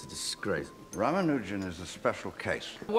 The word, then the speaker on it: Ramanujan: Rammanujan. Am I pronouncing that properly?